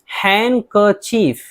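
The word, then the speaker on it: handkerchief: इनके अलावा भी कुछ अल्फाज हैं जिनके अंदर डी खामोश रहता है, जैसे हैंडकर्चीफ, यहाँ डी है लेकिन डी को नहीं पढ़ेंगे, हैंडकर्चीफ बोलेंगे, रूमाल।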